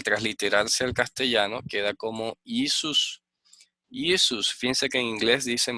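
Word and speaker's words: Ἰησοῦς: Entonces, esta es la forma griega del nombre que sale y que se pronuncia como Isus.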